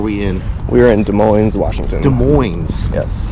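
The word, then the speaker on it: Des Moines: Washington de Moes yes but it's spelled like Des Mo correct okay wait is it like is the S Sil is it like Illinois or is it Illinois de Mo de Mo say de Mo de Mo de Mo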